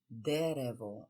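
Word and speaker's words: дерево: so let's start derevo one tree is derevo the first syllable is stressed lots of trees there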